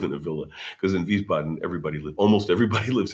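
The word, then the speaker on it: Wiesbaden: Vboden. Vboden. W because the Germans pronounce W as a V. So, it's a W. Vboten is W I S B- A D N.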